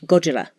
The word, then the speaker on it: Gojira: it which is Gojira which in Japanese pronunciation sounds Gojira not that are isn't hard it sounds more like an L it's somewhere in between an RN and L and so everybody hears